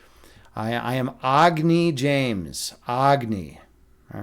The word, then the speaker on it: Agni: By the way, I'm gonna I'm changing the pronunciation of my name. It's no I am no longer Agy James. I am Agny. Agny James. I've decided to get rid of the Chicago accent. I'm going back to to my my Hindu roots.